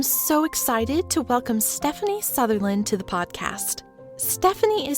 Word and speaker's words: Southerland: we'll get started absolutely so my name is Stephanie Southerland spelled souland but it's pronounced southernland um yeah I uh I grew up in